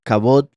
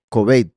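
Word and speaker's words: כבד: La palabra pesado, kabod, es la misma palabra para estima. Aquí en este caso se pronuncia kobed, pero es las mismas tres letras de estima.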